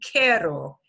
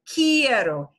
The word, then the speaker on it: quiero: are these forms and it won't be Carol it'll be quieto yeah yeah that each changes into an IE quiero and really what